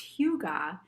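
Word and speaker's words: hygge: and this one is called huga and sometimes i see it pronounced hugo but it's a danish term spelled h-y-g-g-e and it is a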